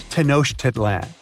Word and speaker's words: Tenochtitlan: It's Tenochtitlan. And Mayan cities are hard to pronounce too.